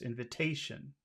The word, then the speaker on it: invitation: Which syllable has all of the stress? Invitation.